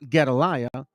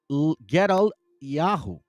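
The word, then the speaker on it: גדליהו: of sha Fon ruler well it's not galiah it's get G gal yahu watch this and when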